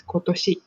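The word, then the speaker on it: 今年: kotoshi It's not omedetou.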